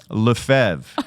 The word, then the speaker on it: Lefebvre: I mean, so it's a very common French name. Lefebvre is how it's pronounced. That's the correct pronunciation.